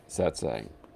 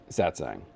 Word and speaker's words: Satsang: And this week's episode, I can never pronounce it correctly. Satsang? Satsang. Easy for you to say. Satsang.